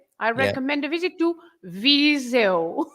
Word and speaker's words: Viseu: I recommend a visit to Viseu. Viseu, of course, that's how you say it.